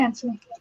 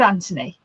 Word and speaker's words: Anthony: My brother's called Anthony, but it's spelt with a TH, but we pronounce it with just as if it's just a T.